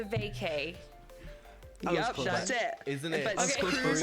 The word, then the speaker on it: Crews: Cruz is spelled C R E W S.